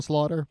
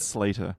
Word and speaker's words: Slater: Bible and going, I'm reading about Christian slaughter. Yeah, why not? And No, what was it's pronounced Slater?